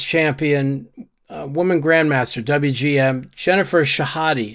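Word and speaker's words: Shahade: two-time U.S women's champion woman Grandmaster wgm Jennifer shahadi it's pronounced shahadi tweeted about sexual harassment she experienced several years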